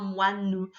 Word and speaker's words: moine: lettres O, I, N, mais tu n'entends pas ouin. Tu entends wa, n. En fait, c'est comme les mots que je te montrais tout à l'heure, une pivoine, un moine. En fait, les lettres O, I, N sont coupées en deux et font 2 syllabes. Wa, ne.